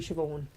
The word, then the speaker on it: Siobhan: Cyoban is actually Siobhan.